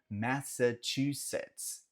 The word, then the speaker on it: Massachusetts: Indo um pouco mais ao norte, o terror de muita gente, o estado de Massachusetts, Massachusetts, Massachusetts. Sim, Massachusetts. Nota que esse CHU aí eles falam ch, Massachusetts.